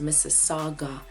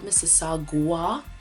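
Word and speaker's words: Mississauga: see one called looks like Mississippi but it's pronounced Miss Saga not missua Mrs Saga Saga that's what we call it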